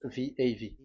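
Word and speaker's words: ו: So the way we read it is VAV. So we wrote it as VAV. We called it as VAV. VAV. Your mouth is like closed. VAV. So it's V as in Vogue. So it's really V.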